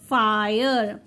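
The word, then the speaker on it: fire: आई कब कहते हैं जब भी आई के बाद हमारे पास आर ई हो तो हमें आई को आई रीड करना है लाइक फायर फ आय र ई साइलेंट हो जाएगा वायर व आय र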